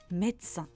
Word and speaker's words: médecin: De temps en temps, on ne le prononce pas, comme dans France, médecin.